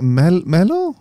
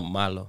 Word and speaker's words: malo: so bad was it Melo? No, malo. Malo, exactly. I don't know how to say bunny in Spanish. But Conejo. Conejo. I actually did learn that one. Oh. So Malo Conejo.